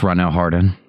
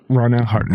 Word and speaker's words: Ronell Hardin: No, you made it French. That's actually pretty cool, but it's just Ronell Hardin. Ronell Hardin. Like James Harden.